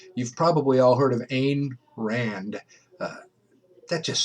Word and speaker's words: Ayn Rand: You've probably all heard of Ayn Rand. Uh, that just sounds wrong. I always want to say Ayn Rand, but I'm always corrected. No, no, it's Ayn Rand.